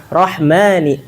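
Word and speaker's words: الرحمن: Rahmani, ma. Dia nggak boleh masuk hidung.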